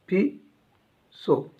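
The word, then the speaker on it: peso: कहीं कहीं आपको पीसीओ भी देखने को मिल जाएगा ऐसा, पीसो। तो कन्फ्यूज मत होइएगा कि सर ने ये बोला था, नहीं, आप पेसो भी बोल सकते, पीसो भी।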